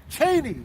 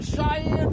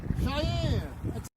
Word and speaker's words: Cheyenne: I'm in Cheney. Fuck. What state? Wyoming. I know I'm in Wyoming. Cheney. I never heard of that. Why don't you spell it? Cheyeye. Oh fuck, man! You're in Cheyenne, Wyoming. Cheyenne.